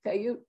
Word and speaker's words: peyote: If they did, I wonder if it's similar to Native Americans using, I don't know how it's pronounced, but P-E-Y-O-T-E, peyote?